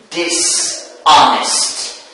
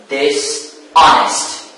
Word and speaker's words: dishonest: Dishonest. Dishonest. Where is the prefix? Of course, the prefix is this. So, this. So the stress moves or shifts to the second syllable.